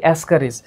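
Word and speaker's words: Ascaris: তো সিম্পলি উচ্চারণ কি? অ্যাসকারিস।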